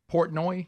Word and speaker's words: Portnoy: Do you say his name, Dave Portnoy? Yeah, Portnoy. Yeah.